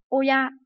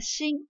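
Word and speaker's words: 親: Và chúng ta có từ này là gì? Oya, bố mẹ của chúng ta, đúng không? Oya. Ví dụ như là gì? Khi mà nó ghép với một từ khác ấy, thì nó được đọc là shin.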